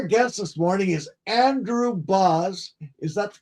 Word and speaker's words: Bauhs: I used to read to my son and and had his name reminds his name reminds rhymes with house.